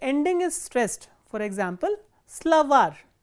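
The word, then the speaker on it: словарь: is stressed, for example, slavar, slavar ends with a soft consonant or a consonant with a soft sign, slavar, and you can see that the last syllable is stressed, var.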